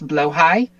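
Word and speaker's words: Blåhaj: This is um, as far as I am not Swedish, I'm fairly sure the pronunciation is blowhigh.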